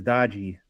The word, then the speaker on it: Doge: stuff uh sis yeah the good proper pronunciation there is dodgy dodgy is that what they're